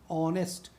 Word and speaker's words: honest: देखिए ध्यान से, H से शुरू हो रहा है, HONEST, ऑनेस्ट, लेकिन उच्चारण क्या करें, ऑ।